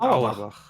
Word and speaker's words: Auerbach: Can I ask, do you Germans actually pronounce it like that? Because I would pronounce it Auerbach.